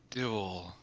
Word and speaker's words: duel: No, you just pronounce it with a UA sound instead of a of a double O sound like a instead of oo.